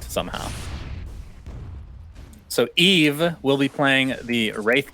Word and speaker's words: Yves: So we got word in between games, Cinderin, that Yves is actually pronounced Eve.